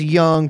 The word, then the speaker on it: Young: That's Young pronounced in the Chinese way.